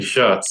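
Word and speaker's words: Schutt: okay who said that the original pronunciation is shut but that this region has just called it shoots for so long that they've just they've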